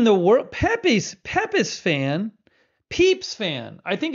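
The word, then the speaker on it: Pepys: I say peeps fan because I think it's Samuel Peeps and I think the name of Samuel peeps is pronounced peeps so correct me if I'm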